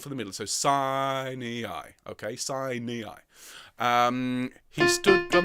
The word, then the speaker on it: Sinai: Now, we would say Sinai. But when you've got 3 syllables, it's Sinai.